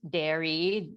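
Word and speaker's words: Daré: Like one of my favorite cheeses now is it's a brand called Dairy. It's spelled like dare, but you pronounce it dairy.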